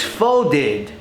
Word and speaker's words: folded: It's not folded. But how could that be? It's ed. It has an ed ending. It's folded. Id. Id. Okay.